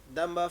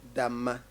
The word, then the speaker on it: Damba: Damba Festival is, we say Damba Festival, that is in Dagbani, but if it is Mampuli, we say Damma. Damma. Okay. It varies. The pronunciation varies according to Dagombes and then the Mamprisis, as well as the Wala people.